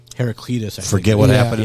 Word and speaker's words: Heraclitus: Heraclitus.